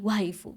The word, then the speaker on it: waifu: Y él responde todo emocionado, "My wifeu," así, sinvergüenza diciendo my wife, es decir, mi esposa con pronunciación japonesa, my wifeu.